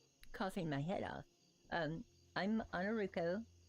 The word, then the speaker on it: Ainurauco: my header um I'm on a ruko everybody calls me because they pronounce the a instead of the O but it's ruko uh Roux like blue and Co light toe but just call me